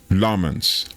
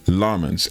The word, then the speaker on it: Lammens: I had to go learn how to pronounce his name. His name is Senna Lmans. Lmans, emphasis on the l.